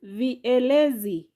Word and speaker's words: vielezi: Next word, vielezi. Vielezi has syllable V, A, Le, Z. Those are 4 syllables.